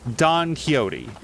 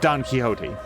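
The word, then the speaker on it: Quixote: were reading the book you would say Don keyote or maybe kote um and it's spelled Q IXO T I think I'm not good with spelling but the x is silent you would just say Don kote if someone if something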